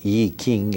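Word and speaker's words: I Ching: the ancient Chinese over cul de Jing or a king as it is pronounced in Chinese and probably those three are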